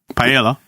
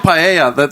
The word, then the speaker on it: paella: But when you say tortilla, yeah, you don't pronounce the L's, so it would be paella.